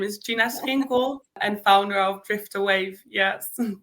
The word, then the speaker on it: Schinkel: My full name is Gina Schinkel and founder of Driftawave.